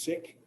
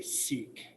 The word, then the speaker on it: Sikh: In English, we usually say Sikh, like S-E-E-K, Sikh, right? I'm aware that that's not the correct way to say it. I'm aware it's not the way that Sikhs say it. I'm aware it's not the way they say it in India, but I'm not in India.